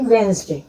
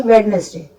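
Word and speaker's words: Wednesday: जैसे हम कहते हैं वेंसडे, जबकि होता है वेडनेसडे, लेकिन इसका प्रोनाउंसिएशन होता है वेंसडे, मतलब इसमें डी हमने साइलेंट कर दिया है।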